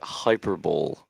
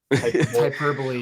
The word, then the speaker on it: hyperbole: Ladies and gentlemen, he just said hyperbol. Hyperbole.